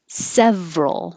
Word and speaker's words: several: Several. We drop the middle syllable, so it's just two.